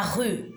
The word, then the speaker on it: rue: La rue, E muet.